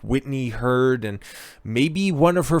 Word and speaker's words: Heard: as well because uh heard not herd side deppside has reserved